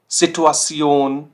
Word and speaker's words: Situation: तो ये हम साउंड करते हैं कुछ ऐसा, सियोन, सियोन। zum Beispiel Motivation, Motivation, Situation, Situation, Funktion, Funktion।